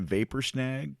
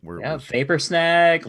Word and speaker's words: Vapor Snag: And not to mention that Vapor Snare, am I saying it right? Vapor Snag, Lightning Bolts.